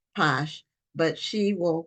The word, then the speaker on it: Pache: So, is your name pronounced, your last name? Pache. Oh, Pache, so it's French.